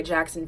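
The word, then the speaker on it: Jaxon: but somehow I that his name wasn't spelled Jackson normally and I was right it's spelled J a XO n Jackson because it has to have an X because he was a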